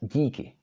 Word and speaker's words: díky: For example, this one, it's pronounced díky. And you see that there is no hook over this d, but it is pronounced d because it is followed by měkké I.